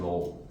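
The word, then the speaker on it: ρ: 그리스 문자고. 로라고 읽어.로로 로우라고 읽으면 되거든. 로우. 그렇지? 그리스차야.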